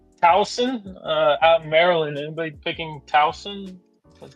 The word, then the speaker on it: Towson: Anybody picking Towson?